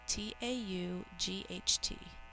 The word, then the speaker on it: taught: spell taut spell out loud with me taught t-a-u-g-h-t taught you know what and i just found